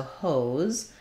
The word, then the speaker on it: hose: really pronounced very similarly for H we have the O vowel like in no so there's an O dip thong there and letter s Says Z so hose I would think about that like um maybe just write it rewrite it with a z uh a z e and making sure your o is long enough in wh horse we